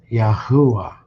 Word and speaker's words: Yahuwah: O, U, and E, with the UA having the U sound, which agrees with the Assyrian pronunciation, Yahuwah, and is pronounced Yahuwah.